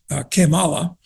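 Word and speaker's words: Kamala: hardcore communist which is kimala I'm pronouncing it in the Spanish way incidentally which means how bad uh and you know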